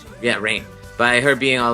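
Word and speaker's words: Rahne: And I have to say about the boys being separated by Rane being like, or Rain, sorry, I always say her name wrong. Rain.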